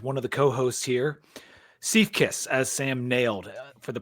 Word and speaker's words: Siefkes: Siefkes, as Sam nailed for the pronunciation, kicking off the bat.